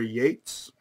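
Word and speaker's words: Yeats: so spoke not me why is one pronounced keats and the other yates why not cates and eats and yates or keats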